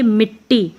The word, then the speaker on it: मिट्टी: साथ में बोला जाएगा इसको बोलेंगे मिट्टी ना कि हम बोलेंगे मीटर टीम हम बोलेंगे मिट्टी इसका उच्चारण होगा मिट्टी इसी प्रकार से छुट्टी